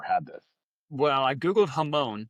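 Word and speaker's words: jamón: Well, I googled jamon, which I'm guessing that's how it's pronounced because they don't pronounce the J.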